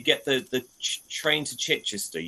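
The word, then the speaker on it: Chichester: the the train to chitester you would hear a conductor say chister and that's your Sussex where pronouncing chitester it's by and large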